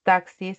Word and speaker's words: taxi: como taxi, por ejemplo, se escribe de esta forma, pero cuando tú representas taxis se pronuncia como dos fonemas.